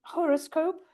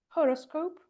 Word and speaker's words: horoscope: Um horoscope. horoscope. So the first sound is not g um cenmon.